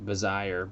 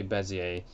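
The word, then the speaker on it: Bézier: it's spelled it's called sounds like bazire but it's not and people you will hear people say it like that and it's funny but don't ever say bazire always say bezier else you'll get made fun of probably that's kind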